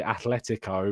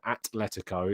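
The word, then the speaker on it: Atlético: which I get so annoyed why people say Athletico rather than Atletico is because the reason why you don't say Athletico Madrid is because it's a not that and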